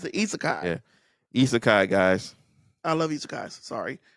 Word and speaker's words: isekai: something sukamii it's isai it's a isai yeah isekai guys I love eai sorry but it's it's